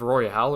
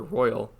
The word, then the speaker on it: Royal: fans should be vocal about porting Persona 5 Royale to the Switch instead of just doing that. So... Hold on. Yeah, I need to what? reread this. Wait, is it Persona 5 Royale or Royal?